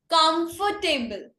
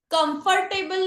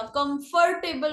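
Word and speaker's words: comfortable: 10th number, कंफर्टेबल। कंफर्टेबल नहीं होता, कंफर्टेबल बोलते हैं, कंफर्टेबल। ओ जो है वो साइलेंट रहता है, कंफर्टेबल।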